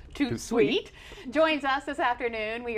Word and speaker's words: Tout De Suite: i should say yeah too sweet pronounced too sweet joins us this afternoon